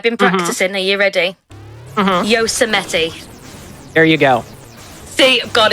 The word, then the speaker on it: Yosemite: How do you pronounce the word that you now know how to pronounce, evidently? Oh, you're in chat. I see. Okay, I've been practicing. Are you ready? Yosemite.